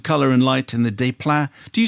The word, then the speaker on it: Desplat: The visuals, sets, use of colour and light, and the desplat.